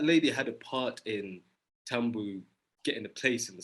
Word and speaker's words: Tambu: And Tsitsi's character definitely does come out through Tamba's narration. Just to be clarify, is it pronounced Tamba or Tambu?